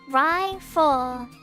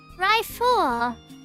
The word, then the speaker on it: Ryle: you private second class my name is pronounced ryall Ryle it's not that difficult you must learn to